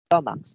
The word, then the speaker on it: stomachs: students added an s stomachs to make them plural exactly very good andre even if the noun stomach ends in ch it sounds like k right we cannot spell